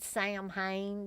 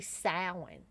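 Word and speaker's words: Samhain: for sam uh salmon yeah i almost said sam hayne because for years i thought sam hayne was how you pronounced it but it's actually sound and you can look that up on the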